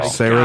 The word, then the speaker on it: Sarandon: Like Saran wrap, like Sarandon? I think she actually has said that is the way you pronounce it, but nobody pronounces it correctly, so she just stopped correcting people.